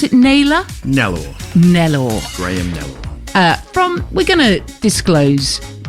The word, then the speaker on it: Graham-Nellor: Do we pronounce it Nellor? Nellor.